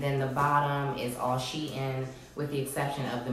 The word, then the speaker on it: SHEIN: as well if you didn't know it is pronounced she in the company actually put a meme up I'm